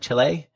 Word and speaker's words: Chile: Am I pronouncing it right? Chile? Yep. Chile.